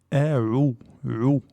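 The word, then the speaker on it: أَعُوذُ: Il y a la hamza, qui est aminci, c'est sa prononciation ordinaire, avec le ou. Les gens ici ont tendance à les prononcer amplifiés, donc c'est une erreur fréquente, donc je ne sais pas pourquoi, mais les gens ont tendance à dire a'udhu, a'udhu, a'udhu, alors qu'on n'a pas le droit de la prononcer de cette façon. Donc a'udhu, on doit bien prononcer le a.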